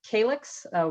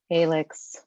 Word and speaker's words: CALYX: It's actually pronounced CALYX. We get that a lot. CALYX.